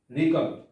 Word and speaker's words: wriggle: wriggle, wrigle, wriggle শব্দের অর্থ হচ্ছে চলনা করা।